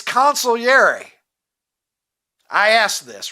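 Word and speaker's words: consigliere: consolary this morning because a lot of people say consigary consiglier, but apparently it's consilier.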